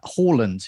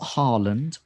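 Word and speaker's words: Haaland: plus we will attempt to get all our pronunciations right uh holland you may have mentioned notice i said that not harland and not jesus it's jesus um so there's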